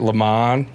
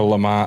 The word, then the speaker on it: Le Mans: So am I pronouncing, is it Le Mans? Yeah. Or Le Mans? I say Le Mans. I'm probably... Look, we're American, so we can say it the American way.